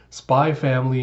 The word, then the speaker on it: Spy x Family: to be spline family because the X is silent so without further ado let us dive into spy family mission 18 so we